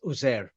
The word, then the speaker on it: Uzair: Now the thing is, there's different pronunciations, but the standard pronunciation is Uzair.